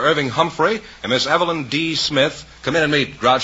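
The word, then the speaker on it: D'Smith: I see Miss Evelyn Smith is that right uh my name is not Smith it's D Smith oh it's D Smith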